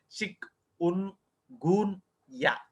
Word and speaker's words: Chikungunya: And you have to pronounce it as a chick un goon ya.